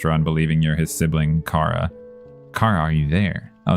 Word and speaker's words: Chara: ghost that's good and this is Cara right that's how you're supposed to say it like character K yeah yeah all right